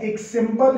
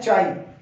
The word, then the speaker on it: chi: Susceptibility को denote करते हैं एक सिंबल के साथ। इसको एक्स ना समझा जाए, लगता एक्स जैसा है, इसकी प्रोनाउंसिएशन एक्स नहीं है, ये एक ग्रीक अल्फाबेट है, इसकी प्रोनाउंसिएशन है चाई, CHI, चाई।